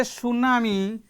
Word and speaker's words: tsunami: not pronounced we say tsunami t starts with t this is the spelling tsunami but t is not pronounced t remains silent and here here is